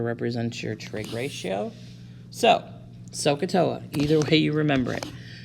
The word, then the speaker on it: SOHCAHTOA: And that's how you say it, SOHCAHTOA.